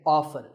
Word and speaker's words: often: this as often now strictly speaking often is not wrong but the more common pronunciation is with the T silent so I recommend that you always say often one word that's often